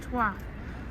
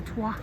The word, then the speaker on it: Troyes: Yeah, actually, it's actually pronounced Troyes, which is a little bit strange. But yes, it's not Troyes, even though we would say Troyes, it's Troyes.